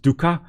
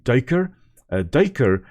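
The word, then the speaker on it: duiker: So this daker here very often pronounced duka but it's actually derk is an Africans word meaning diver.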